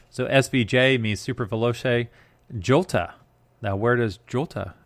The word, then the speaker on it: jota: svj means super velocity jolta now where does jolta jota come from j-o-t-a well apparently that's how you pronounce the letter j in italian but where did that